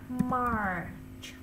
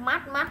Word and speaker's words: March: Rồi tới tháng 3 nè, March. Nghe nè. March. March. Được không? Mar, đọc là March, tại nó cũng viết là March. March. Đừng có đọc mát là không đúng đâu nha.